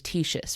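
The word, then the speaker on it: Ctesias: His name was Titius, which is spelled with a silent C, which is really weird.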